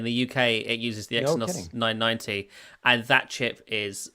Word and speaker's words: Exynos: What's it called, Exynos? How do you pronounce it? I think it's Exynos, yeah.